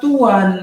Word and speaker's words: Tuhan: Bahkan kalau orang Jawa itu tidak mengucap malah huruf H-nya. Jadi walaupun ada H, T-U-H-A-N, diucapkannya tetap Tuan gitu.